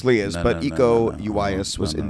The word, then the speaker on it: Iko Uwais: Bruce Lee versus Iko Uwais. Bruce Lee. I hope I don't know who butcher that is. name. Ego.